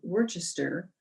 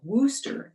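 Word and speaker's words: Worcester: family from boston to worchester or wooster as it is pronounced in new england frederick then go figure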